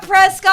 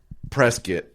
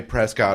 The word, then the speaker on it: Prescott: on the very top it says it's pronounced Prescot do not say Prescott on stage because they'll [ __